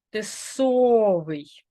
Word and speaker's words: тисовий: і звук наголошений тисовий якщо О то правильно тисовий якщо ви вимовляєте не так як я значить ви наголошуєте